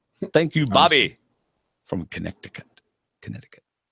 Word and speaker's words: Connecticut: you Bobby from Connecticut Connecticut I wonder why the sea is silent in Connecticut I wonder go ahead